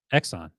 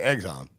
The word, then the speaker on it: Exxon: I say eggs on. Eggs on. EG. Eggs on. Yes. I basically say eggs on.